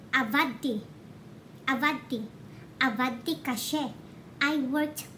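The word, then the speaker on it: עבדתי: Avadeti. But, if you pronounce it, mga langga, you really don't say avadeti. Instead, you say avadti.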